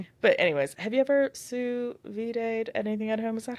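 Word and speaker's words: sous vide: have this but anyways have you ever su vayed anything at home? Is that how you say it? I can't remember. Yeah, suvid.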